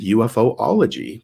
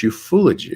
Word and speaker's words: ufology: a kid, he explained I had mispronounced the word ufology. I said UFOology because, of course, there's an acronym. It's not a word. It's UFO, right? 3 words, unidentified flying objects. He says, no, it's ufology or ufology.